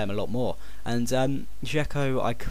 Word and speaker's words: Dzeko: Next one is this man, Edin Dzeko, or Zeko, no, it is Dzeko, that's how you say it, isn't it?